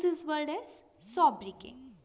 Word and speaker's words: sobriquet: So children, we pronounce this word as sobriquet. Sobriquet. Notice that the last T is silent.